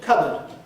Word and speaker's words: cupboard: And there's cupboard. Cupboard, of course, is a very common word, and it hasn't been pronounced cupboard or something like that since the time of King Alfred, 1,000 years ago.